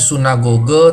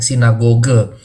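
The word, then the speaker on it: συναγωγή: istilah-istilah lain antara lain khususnya sunnah Google ya harusnya sunnah Google tapi kadang-kadang kemudian Sun itu jadi Sin sinagoge dalam transliterasi Yunani ke latin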